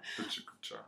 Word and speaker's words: PechaKucha: Yeah, Pechakucha.